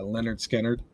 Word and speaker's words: Lynyrd Skynyrd: uh after their first album pronounced uh leonard skinner um and i don't